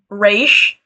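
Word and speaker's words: Ra's: to continue on what Raish, that is how you pronounce his name, by the way, what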